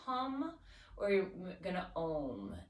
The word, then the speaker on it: om: or you're going to ohm an om is actually a three syllable sound it's a so we make three different sounds in there really connecting